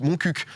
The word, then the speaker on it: Montcuq: la ville par pitié arrêtez de dire mon cul ça se prononce montcuq merci les frérots cornes